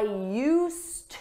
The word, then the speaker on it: used: for that we need use with a d you don't hear it in pronunciation but it's there in spelling I used to work at the